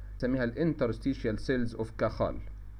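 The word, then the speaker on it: Cajal: سيشال سيلز اوف كاخ هو شخص اسباني ف النطق الاصح ليها ان الجي هنا هتطق زي الخا في بعض بينطقها كيال وفي بعض بينطقها كاجال كل النطق صحيح يعني لكن الاصح انها زي زي زي الخ هي عباره عن ميزنم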